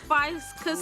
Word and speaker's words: Ficus: This is a Ficus natalensis, so it's indigenous to Natal. Ficus Natal. natalensis. Hold on. Oh, natalensis. Yes. Ficus natalensis. Still wrong, Zola. It's actually ficus.